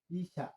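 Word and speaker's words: いしゃ: দেখা দিতেছি বিষয়টা এইযে এটা যুক্ত বর্ণ এ ব্যতিক্রম ছিল আমাদের হিরাখানাতেও এটা সা ইশা এই ইশা এই যে ইশা ইশা ইশা মানে ডাক্তার এই এটা ব্যতিক্রম উচ্চারণ তাহলে আপনি কি ডাক্তার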